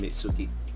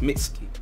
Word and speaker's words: Mitsuki: god boruto even though Mitsuki Mitsuki what I keep saying me Suki like that I just like oh man Mitsuki but it's Mickey Mickey Mickey whatever pronounced [